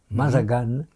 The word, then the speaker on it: Mazagan: 24 mai 1932 à Mazagan. Je sais pas si on prononce comme ça. C'est Maagan et ça se prononce en portugais à l'occupation portugaise Mazagane.